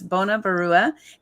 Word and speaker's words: Banya Barua: Bona, I pronounced it correctly. Yes, Banya Barua.